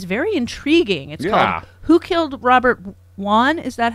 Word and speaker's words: Wone: peacock that is very intriguing who killed Robert Wan is that how you pronounce his last name yeah who killed Robert Wan yeah what's what's the premise so people know